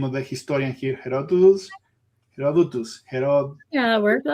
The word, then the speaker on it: Herodotus: Okay, and then a couple of things very quickly that how you pronounce the name of the historian here? Herodotus.